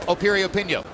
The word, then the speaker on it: Piriyapinyo: pinko opinion once again the name begins with a P but it's pronounced Appirio pin yo go figure and as